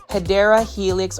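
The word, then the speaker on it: Hedera helix: Heedra helix or the correct way to say it, you already know. Hideera helix or English ivy.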